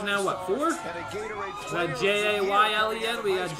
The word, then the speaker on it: Jalon: the Atlanta Falcons select, Jaylen Walker, defensive end, Georgia. Oh, Jalon. Is that Oh, is that how they say it? Jaylen. I've been saying Jalon.